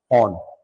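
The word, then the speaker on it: Föhn: अंगूर की फसलों को शीघ्र पका देगी, तो इसका नाम है ऑन। अंग्रेजी में ऐसे लिखते हैं, ये स्पेलिंग होती है, FOHN लिखते हैं ज्यादातर, यहां पे ई भी लिखा है, ऑन ऐसे लिखते हैं।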